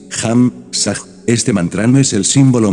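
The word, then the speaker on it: Ham Sa: Muchas veces les he explicado a ustedes cómo se trabaja con el mantra Ham, Sa, que se pronuncia así, Ham, Sa, este mantra es el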